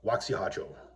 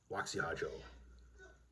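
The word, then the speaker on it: Waxy Harjo: And I have one other ancestor who was a soldier, Waxihajo. It's spelled Waxy-Harjo, but that's not really how you pronounce his name. So, Waxihajo.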